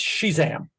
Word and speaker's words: Shezam: be doing next episode it's uh shazam but it's spelled s-h-e it's shezam she's am so she said although she doesn't in the interview uh i didn't hear her say she's am it was shazam but but if you're